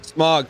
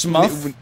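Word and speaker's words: Smough: Smog. Wait, you said you pronounced it Smog? Smog, whatever. Does it? Smog? I mean, it's O-U-G-H, you know? What? How do you say it? I guess Smuff, like tough.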